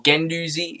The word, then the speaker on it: Guendouzi: We're going to approach to buy Guendouzi, or Guendouzi, is how it's meant to be pronounced.